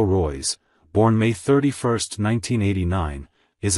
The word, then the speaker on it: Reus: 2021 UTC Marco Reyes German pronunciation Mako Roy's born May 31 1989